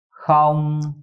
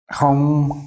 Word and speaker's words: Không: The ong is hard for Ralph. Now to say it right, keep some air in your mouth and round up your lips. Không. Không.